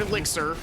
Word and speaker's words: elixir: Great power crafted by where he mispronounces the word elixir as a reward for my contribution.